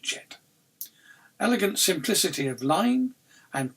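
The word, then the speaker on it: Djet: The snake is pronounced Jet.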